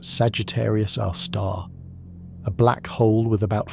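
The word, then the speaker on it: Sagittarius A*: Our own Milky Way harbors one, Sagittarius, a star, pronounced Sagittarius our star, a black hole with about 4 million times the Sun's mass, located roughly 26,000 light-years from Earth.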